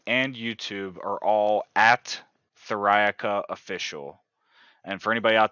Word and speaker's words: Theriaca: uh Facebook Instagram and YouTube are all at thirayaka official and for anybody out there that's just